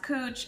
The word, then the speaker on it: Couch: cooch street for instance spelled couch pronounced cooch it's willamette not willamette